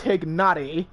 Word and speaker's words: Tignari: I'm gonna switch over to Tignari. Tignari. Tignari. Like I'm pronouncing it with a G. Just pretend the G is there.